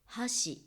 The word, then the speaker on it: 箸: ていました箸という言葉は橋ブリッジと同じ発音ですねアクセントは違うんですが橋橋これ文字で見